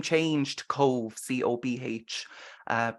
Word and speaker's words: Cobh: Now, the name changed to Cove, Cobh, pronounced as Cove.